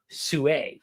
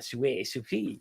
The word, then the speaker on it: Sui: ones you mentioned, but you said it wrong, Sue, it's a French one. Sui, but the Sue, right?